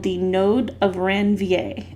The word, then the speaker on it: Ranvier: called the node of ranvier it's french so you don't pronounce the r the node of ranvier and it's going to